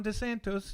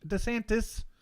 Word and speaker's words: DeSantis: starting to think that ron de santos is desantis i apologize there was actually somebody got offended by me saying desantos desantis and they are correct that's not the correct pronunciation they're already going after